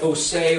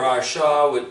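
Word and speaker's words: עשה: Then to do what the words say is the word spelled oseh or asha, depending on how you want to pronounce it, which is ayin, sheen, hey.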